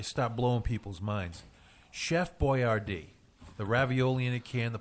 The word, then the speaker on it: Boyardee: his last name was Boyardee well he spelled it out phonetically so as not to freak out Middle America who wasn't used to having an Italian cooking form